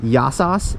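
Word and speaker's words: γεια σας: So with the beautiful background here, I will say one last yasos.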